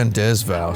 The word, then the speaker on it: rendezvous: We rendezvous in the vacant lot up ahead. It's pronounced How are we Rendezvous.